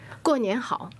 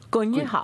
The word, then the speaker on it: 过年好: 过年好. 过年好.